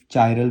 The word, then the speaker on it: chiral: ये कायरल carbon atom नहीं ऐसे कई चाइरल भी प्रोनाउंस करते हैं। वो आप रीजन के हिसाब से अलग-अलग तरह से ये प्रोनंसिएशन है।